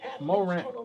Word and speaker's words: Morant: But Mo is part of John's last name. Morant. That's how you pronounce it.